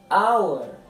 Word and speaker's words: hour: E lê-se, ou pronuncia-se, hour. Hour. Repara bem, hour. Não fala o som de H. Eu começo no som aqui do O.